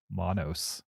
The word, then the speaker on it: Monos: My number 9, Monos.